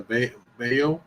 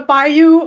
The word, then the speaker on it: bayou: A 20-year-old Jade McKenzie missing for four days found in the ba bao. Is that how you say it? The the bayou.